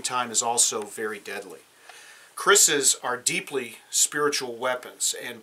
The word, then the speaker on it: kris: The first one we'll look at is this one here, which is a kris. K-R-I-S is how it's spelled.